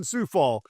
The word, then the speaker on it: Coufal: a bit of advertising and remotes for the Coufal family in the tractor business. And so we learned pretty quick. This is how you say it. So that's good. Kind of got me ready for that. Coufal from over at the Extraco Event Center, our